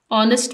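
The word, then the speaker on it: honest: tales truth यानी ईमानदार ऑनेस्ट में एच साइलेंट है नेक्स्ट पेशेंस मीनिंग टॉलरेंस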